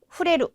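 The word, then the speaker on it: 触れる: 나레루, 후레루 어느 쪽일까요? 네, 정답은 후레루가 되겠습니다. 후레루. 그래서 나레루는 어디에 익숙해지다라고 하는 네, 그런 단어였었죠. 네, 저 촉자는 발음을 후레루라고 읽어주시면 되겠습니다.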